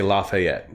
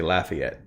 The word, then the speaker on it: Lafayette: New Orleans and uh we don't say Lafayette, we say Lafayette.